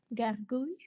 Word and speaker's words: gargouille: How do you pronounce this word? Gargouille.